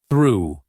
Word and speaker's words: through: Through.